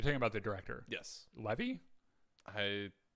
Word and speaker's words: Levy: leevy Levy you're talking about the ctor yes Levy I how how it's spelled l v y Levy Levy okay so